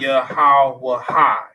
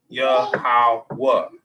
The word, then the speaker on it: Yahweh: It's not Yahweh. It's Yahweh. Okay.